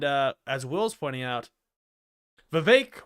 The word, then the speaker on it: Vivek: as Will's pointing out Vivek rhymes with cake he gained and Mike